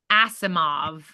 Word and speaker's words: Asimov: complete works of Isaac is how do you pronounce that like oh uh Isaac Asimov Isaac Asimov then watch whatever generic romcom is